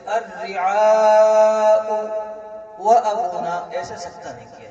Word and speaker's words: الرعاء: ساتھ سکتہ ہونا چاہیے۔ سکتے کی حالت میں الرعاء کا حمزہ ساکن پڑھا جائے گا، الرعاء وابونا، ایسے سکتہ کیا جائے گا، الرعاء وابونا، ایسے سکتہ نہیں کیا جائے گا۔ سمجھ گئے بچوں؟